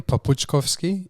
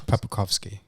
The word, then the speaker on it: Papuckovski: In Macedonian, Papuckovski. In English, Papuckovski.